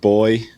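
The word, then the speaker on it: BOI: B O I think it's pronounced boy.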